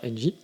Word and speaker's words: NGEE: Toujours pareil, vous savez, il y a mon Instagram qui existe, donc qui est NGEE, on prononce ça NJ.